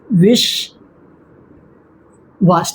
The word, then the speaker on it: विश्वास: विष वास ठीक है तो इसका उच्चारण जैसे करेंगे विषवास जब वी बोल रहे हैं तो हमारा जो होठ है वो बंद बंद हो रहा है। वी वी नीचे की ओर आ रहा है।